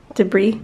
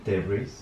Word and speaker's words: debris: Debris? Debris. Debris. Debris. You don't pronounce the S.